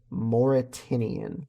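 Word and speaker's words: The Mauritanian: So uh anyway, first trailer that we've got up is the Moritinian, I believe is how it's pronounced.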